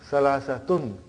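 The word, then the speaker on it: ثلاثة: we can give tani so that is why you have salasat but in pronunciation we will say salasa Okay.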